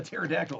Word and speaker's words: pterodactyl: the other one the pterodactyl that's right kind of a play on uh the silent p and pterodactyl she's got a standing